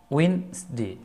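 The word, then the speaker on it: Wednesday: ডি জি পাশাপাশি থাকলে ডি এর উচ্চারণ হয় না যেমন এখানে ডি এবং জে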